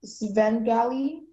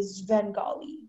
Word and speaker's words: Svengali: It can be pronounced Svengali, Svengali, Svengali, or Svengali.